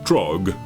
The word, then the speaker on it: Drogue: Well, I learned it is Trog, not Rogue, and then Drogue.